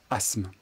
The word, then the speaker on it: asthme: asthmatique asthme asthmatique ici la difficulté est que l'on ne prononce pas le T asthme asthmatique vous l'aviez